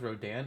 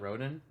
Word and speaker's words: Rodan: rodan yeah i found it's pronounced rodan it's not roden that's something that caught